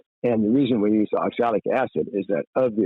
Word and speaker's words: oxalic: you as a southerner say oxalic rather than oxil and pronounce pronounce the